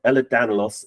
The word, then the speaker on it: Ehlers-Danlos: We have Sarah Hamilton, who is the Information and Advice Manager at the, I'm going to say it right, Ehlers-Danlos Support UK charity.